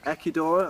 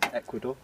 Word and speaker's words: Ecuador: then um can craig ekidor i think you should be can you stop saying ecuador ecuador i was using the spanish pronunciation um um yeah i think